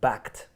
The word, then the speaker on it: Bakkt: are blaming bad reception about the situation with Bakkt. That's how you pronounce it.